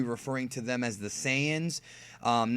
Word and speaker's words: Saiyan: dub and pronounce it saan so for the purposes of this video I will be pronouncing it saan the correct pronunciation from the original Japanese word yasai is Sayan and what happen happened